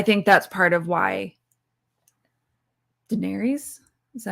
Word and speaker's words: Daenerys: I think that's part of why Daenerys, is that how you pronounce it? Daenerys, yeah.